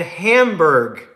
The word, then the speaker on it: Hamburg: I'm in Hamburg. Hamburg. Yeah, like hamburger but spelled different. Like spelled like Germany.